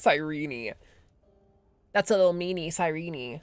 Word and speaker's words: Cyrene: I hate that it's actually pronounced sirene.